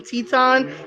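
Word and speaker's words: Titán: Teton by the way I don't know why uh we call it we call him Teton it's spelled Titan but because he's Mexican and he's representing cmll and also rep and also representing lij um we say uh Teton just please put the accent over uh the a it would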